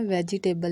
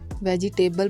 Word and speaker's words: vegetable: बहुत से लोग सब्जियों को इंग्लिश में वेजिटेबल बोलते हैं, जो कि गलत प्रोनाउंसिएशन है। सब्जियों की इंग्लिश में राइट प्रोनाउंसिएशन 2 पार्ट्स में डिवाइड होती है, जिसे वेज टेबल कहते हैं। वेज टेबल, वेजिटेबल नहीं बोलते, वेज टेबल बोलते हैं। ये इसकी राइट प्रोनाउंसिएशन है।